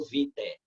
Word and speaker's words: vitae: Como é uma palavra latina, essa expressão AE termina pronunciada como E, tá? É currículo vitae.